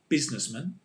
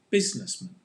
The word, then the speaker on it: businessman: a singular noun um it's the same pronunciation because the man is with the schwa sound businessman can you say businessman